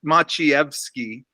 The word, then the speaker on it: Maciejewski: was one of those in Polish the J is silent so okay it's it's machiavsky which the J is